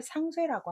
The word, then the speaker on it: 상쇄: 상반되는 것이 서로 영향을 미쳐서 효과가 서로 없어지는 걸 상쇄라고 합니다. 살이라고 하시면 안 돼요.